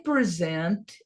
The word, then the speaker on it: present: Então, os verbos, eles são pronunciados na última sílaba. Ah, mas e se for no passado? Continua a mesma coisa. Presented, presented, presented.